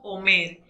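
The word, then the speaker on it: אֹמֶר: En el diccionario Strong hebreo apartado 562, el término promesa se pronuncia en el original como omer y significa palabra, cosa, dicho, promesa y discurso.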